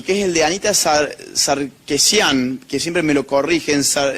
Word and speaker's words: Sarkeesian: Y en Canadá tenemos un caso que es fabuloso, que es el de Anita Sarkeesian, que siempre me lo corrigen. ¿Alguien sabe cómo se pronuncia bien?